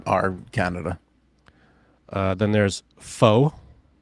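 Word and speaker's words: pho: Canada uh then there's foe or Poe however you pronounce that p-h-o PHA okay um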